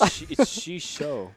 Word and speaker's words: Xixo: It's Xixo. Xixo. Yeah. Oh, okay. XI is like a SH. Yeah. Yeah. So yeah, like Xixo is playing Reno Lock, and so is StanCifka.